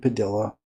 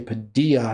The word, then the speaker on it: Padilla: By the way, I believe it's pronounced Padilla. I know some people say Padilla. I thought it was pronounced Padilla. Maybe I'm wrong.